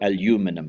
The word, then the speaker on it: aluminum: Now, Alcoa is the largest aluminium company they call it aluminum, I think is the correct pronunciation in the US, in the United States, and it's diversified because of the lower electricity costs of making aluminium.